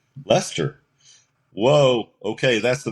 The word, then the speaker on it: Leicester: So this is the British pronunciation of this word.